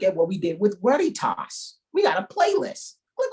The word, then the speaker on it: Veritas: And the V in Latin is pronounced like a W. What? Instead of veritas or veritas, is Veritas.